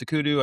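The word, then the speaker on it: OCUDU: I think, for the record, it is pronounced Akudu. I hear some people question that. Intel joined as a premier member.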